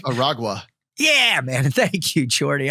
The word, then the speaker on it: Aragua: I think it's Aragua.